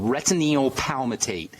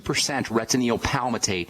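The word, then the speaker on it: retinyl palmitate: I'll tell you what it is, and I'll spell it. It's called retinoyl palmitate, and that's a mild form of vitamin A.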